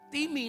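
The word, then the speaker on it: τιμή: disalin dengan kata Timi tulisannya time bukan bahasa Inggris time Tapi bacanya bahasa Yunani bacanya Timi ternyata yang pertama artinya adalah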